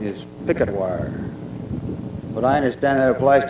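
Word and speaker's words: Purgatoire: Reclamation and the Army Corps of Engineers I pronounced that prire but a contemporary of mine who is a native of the state of Colorado told me that the proper pronunciation is picketwire but I understand that applies to the river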